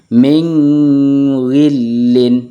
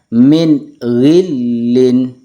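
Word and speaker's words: مِنْ غِلٍّ: harus dibaca jelas minin jadi kalau kita baca dengung Ming gillin itu salah yang benar Min gillin baik contoh selanjutnya adalah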